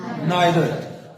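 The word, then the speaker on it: neither: इनको ईदर और नीदर भी पढ़ते हैं अमेरिका वाले, बरतानिया वाले पढ़ते हैं आइदर और नाइदर।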